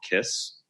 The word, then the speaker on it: Kysse: One new filler that just came on the market by Restylane is called Kiss. It's spelled Kysse.